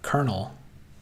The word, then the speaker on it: colonel: no r in that only ever heard them pronounced the same. I guess I've I don't I've heard the word colonel like in a military position.